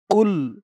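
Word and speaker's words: قُلْ: করে নিবেন আমার সাথে কফ লাম পেশ কুল কুল কফের আওয়াজটা গলার ভেতর থেকে ধাক্কা খেয়ে আসবে কুল ইয়া খারা জবর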